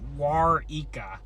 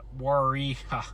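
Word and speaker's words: Waurika: Warika is pronounced Wara. Not Warika. Wara.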